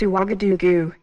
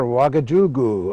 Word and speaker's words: Ouagadougou: I hope I can pronounce this right. It's Ouagadougou. Right you are, Ouagadougou.